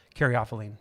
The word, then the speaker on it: caryophyllene: Caryophyllene.